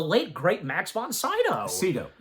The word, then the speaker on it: Sydow: Sydow. It's pronounced Sydow. Some people say Sydow, but it is correctly pronounced Max von Sydow.